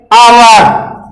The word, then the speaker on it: hour: लगाएं, लेकिन इसको देखिए, ये इसका उच्चारण है आवर। यहां आ उच्चारण हो रहा है, एच साइलेंट है, उच्चारण एच से नहीं बल्कि आवर हो रहा है।